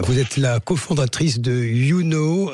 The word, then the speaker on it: Younau: Vous êtes la cofondatrice de YouKnow. Je prononce bien, j'espère. Oui, c'est ça, oui. YouKnow à Saint-Privat-des-Vieux dans le Gard.